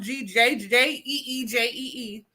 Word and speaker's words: Gigi: My grandmother, Gigi, pronounced Jeejee, always dressed up for church.